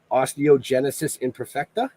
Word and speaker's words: osteogenesis imperfecta: real genetic condition and I I'm gonna butcher the out of this osteogenesis imperfecta actually you nailed it imagine that been wow